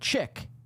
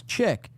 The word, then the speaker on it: chic: I mean, just look to today when Keanu put chick. Really, it's chic, and I pronounced it as chick.